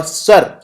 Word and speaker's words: sur: जो वास्तविक, और सर आगे जो SUR लगा है इसको हम प्रोनाउंस करते हैं सुर। फ्रांसीसी, फ्रेंच भाषा का शब्द है स्यूर, इसका मतलब होता है परे, यानी रियल से परे।